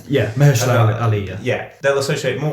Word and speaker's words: Mahershala: more with the fact that Mahershala, how you pronounce his name? Yeah, Mahershala Ali.